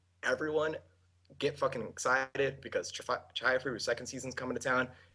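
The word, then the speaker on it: Chihayafuru: Chihaya Furu.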